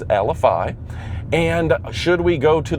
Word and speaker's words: Alafia: The correct pronunciation is Alafia.